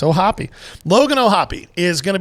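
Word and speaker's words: O'Hoppe: want to say phonetically, Hoppe. 2 consonants. Is that vowel supposed to be long? Yes, with the 2 consonants. If there was only one, it would be hope.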